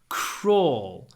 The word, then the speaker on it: crawl: the beginning try to blow some air out crawl don't just say crawl crawl and it's a